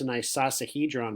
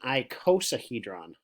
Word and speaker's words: icosahedron: learned about isosceles triangles I call this a nice sauce a he drawn but that's actually not the correct way to say it this is an icosahedron like cosine icosahedron has 20 faces we